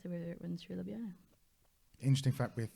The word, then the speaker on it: Ljubljana: Yeah, so that's the river that runs through Ljubljana. Interesting fact with the J's in a lot of the former Yugoslav countries, they are pronounced as an I. So this is written as Ljubljana, but actually it's Ljubljana because it's pronounced as an A.